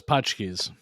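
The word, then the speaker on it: Pączki: So I don't know how you pronounce it, but like, is it Patchkey, Punchkey, like Punch- whatever Punchkeys.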